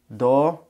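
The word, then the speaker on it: 道: this and do has 11 strokes and it's pronounced do or Mii or or Mei and this means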